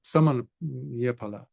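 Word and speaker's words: Sāmaññaphala: That will be the Samanyapala, the Samanyapala, actually, that's the proper way of pronouncing it.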